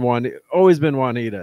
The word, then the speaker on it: Juanita: But it's always been Juanita. It's like, so whenever I see someone on that street, they're like Juanetta. I'm like, you're a new transplant here.